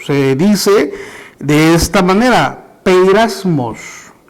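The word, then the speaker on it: πειρασμός: En el original, la palabra original es un término que se pronuncia o se dice de esta manera: peirasmos.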